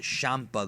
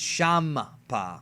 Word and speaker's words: Champa: FB beer is called Champa yeah Champa Champa is the same thing it Japanese and English have two different kind of uh translations for it it's pronounced shampa though but it's it's shampa so is there going